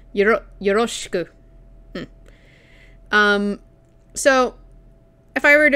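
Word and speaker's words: よろしく: Yoroshiku. No, that was a bad pronunciation. Yoroshiku.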